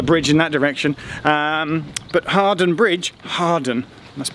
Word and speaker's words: Hawarden: This is Harden Bridge, not Harwarden. We'll talk about pronunciations in a second, because I got an expert local in to help me.